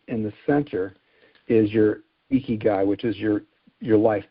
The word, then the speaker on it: ikigai: The ikigai. Ikigai, yeah. I wouldn't even know how to pronounce that.